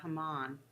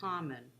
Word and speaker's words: Haman: Now, what I was going to say about Haman, I've listened to multiple readings of the Megillah, and when it's read, it's pronounced Haman. If the rabbis are just talking about him, they say Haman.